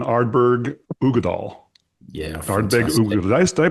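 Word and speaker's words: Uigeadail: Ugadal. Did I pronounce that right?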